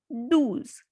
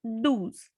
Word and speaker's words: douze: Number 12, douze, because O and U has the sound U. So douze.